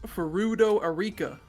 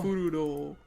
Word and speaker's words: Erika Furudo: more about this mysterious Ferudo Arika. Say it correctly. Why? Rat. Give respect to her name. The great detective. Oh. Erika Furudo.